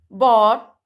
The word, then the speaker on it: bought: Cot, bought, taught, fought. इसमें बेटा GH silent है ना? GH की साउंड नहीं आ रही है. So we will pronunciate it like caught, bought, taught, fought.